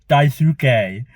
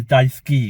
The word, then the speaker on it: Daisuke: And it's where I said it as Daisuke, but it's actually Daisuke because it's a silent U.